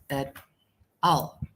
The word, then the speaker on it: et al.: Now I get better idea on about how to pronounce this at al, at al, at al, at al.